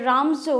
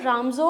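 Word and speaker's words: Ramsjö: द रामजो वो iron works, sorry the spelling is द रामजो iron works, doesn't matter because जे इसमें silent है।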